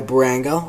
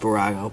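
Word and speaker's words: Bburago: Then next to the Beamer is a 118 old Aston Martin Vanquish, made by Barango, or I think it's supposed to be pronounced Barago, but I always pronounce it Barango.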